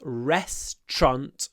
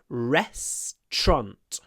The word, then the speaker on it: restaurant: sure that you pronounce restant correctly two syllables restant the TR should be pronounced with a sh rest TR restant and I pronounce it with a double stress so I stress both syllables restant restant the resturant has